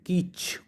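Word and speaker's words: kitsch: इसको प्रोनाउंस करेंगे कीच। तो मैंने यहाँ पर लिखा हुआ है छोटा सा, टी साइलेंट है।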